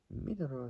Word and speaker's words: Minoru: Minoru is spelled Minoru. Sounds like I'm saying mineral almost. Kind of from mineral water.